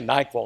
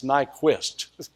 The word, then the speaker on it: Nyquist: it now Nik see I keep want to say nikel I didn't want to embarrass myself it's Nyquist but I Google the uh